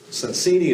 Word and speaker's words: Sonsini: Sonsini is the right way to pronounce the name.